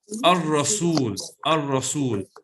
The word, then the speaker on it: الرسول: Okay, Salina, the word Ar-Rasul, is it Shamsi or Qamari? It's Shamsi. MashaAllah, correct. It's Shamsi because we don't pronounce the lamb.